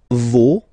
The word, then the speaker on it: vos: Okay, and then for the plural, nos, vos, and then leur. Okay, so remember, even if you've got this final S, you don't pronounce it, as it was